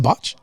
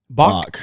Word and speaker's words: Bach: How do you say it? Is it Botch? Bach.